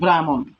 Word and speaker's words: ব্রাহ্মণ: হ ম সংযুক্ত মধ্যাহ্ন বলবো, তখন আমাদের এখানে উচ্চারণ হবে যে শব্দটির ব্রাহ্মণ।